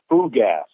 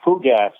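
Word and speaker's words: fougasse: uh 50 gallon drums of what they called food gas i think it's spelled f-o-u-g-a-s-s-e that's a french term food gas which is basically it's it's a gasoline mixed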